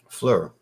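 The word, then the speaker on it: Phlur: house p h lur Flur yeah so yeah you got to pronounce it as an F it's Flur like fat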